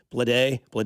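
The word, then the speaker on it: Bleday: Um, your picks, uh, your top 10 picks in that 2019 draft, Adley Rutman, Bobby Whit Jr., Andrew Vaughn, JJ By, Blade is how you say.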